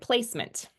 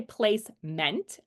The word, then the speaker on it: placement: How about this word placement, right? You probably hear the meant instead of the meant. I don't say placement. I say placement. Right? My mouth just kind of stays closed and I just glide through that word.